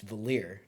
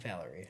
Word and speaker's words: Valere: It's Valir, not Valerie. Valerie. It's spelled Valere.